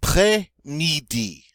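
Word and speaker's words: après-midi: up next I not play needy enough play needy notice that he exon grab that s sound I play me D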